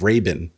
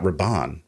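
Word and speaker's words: Rabban: i am vindicated because they pronounced the name of dave batista's character as raven and not rabon which i was corrected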